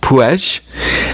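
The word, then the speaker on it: Puig: You've got Puedge, which is P UI G. It's a Catalan word, but it's pronounced Pue.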